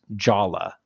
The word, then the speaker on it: Jaller: So Jaller is canonically pronounced Jala because the guy in charge of the story, Bob Thompson, is British, and you don't pronounce ER in British English.